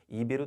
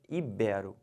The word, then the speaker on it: ibero: libera e não libero-americano o erro comum o pessoal fala muito é chamar isso aqui de proparox e falar ídolo ibiro tá errado o certo é ibero finalizando essa palavra aqui